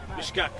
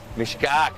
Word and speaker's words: mishkak: Mishakik is the plural, yes. Right? So how do you say one? Mishkak. Mishkak, yeah. Mishkak. Okay, yeah.